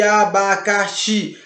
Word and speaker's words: abacaxi: ultimar ele é acentuado abacaxi abacaxi não tem acento mas você não percebe que abacaxi a sílaba mais forte e assim é o Oxe se você não pode ser abacaxi o aba ou abacaxi você tem que dizer abacaxi então Oxe é o mais forte é a última sílaba